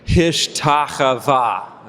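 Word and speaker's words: השתחוה: Hishtachavah. Okay? And it's chava. You got to scrape the back of your throat there, like ich or bach.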